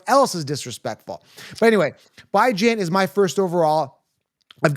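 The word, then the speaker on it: Bijan: pronouncing his name right it's by Jan as in by weekly as Jan as in Ran Tim's heard this a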